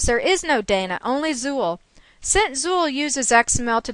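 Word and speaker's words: XUL: user interface language or xql pronounced Zuul the name Zu references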